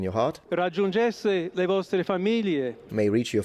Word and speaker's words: famiglie: So there are three ways to pronounce this GL in Italian. Either you pronounce it like it's supposed to be, which is famiglie, famiglie. That's how it's supposed to be pronounced.